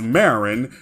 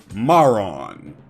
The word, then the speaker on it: Marron: The dub pronounces both of them as Marin, despite the slight difference in spelling. They actually follow Kuririn's naming scheme based around chestnuts, and they're named after the French word marron.